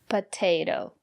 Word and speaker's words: potato: The first letter T is pronounced as T because the syllable after the letter T is stressed. Potato. And the second letter T is pronounced as a fast D. Potato. Because the syllable after the second letter T is not stressed.